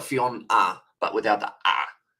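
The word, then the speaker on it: Ffion: fiffen film fion Lewis is the double F yeah so one of them will be silent um fion fion Lewis Kyle fion yeah fion so it's almost like fion ah but without the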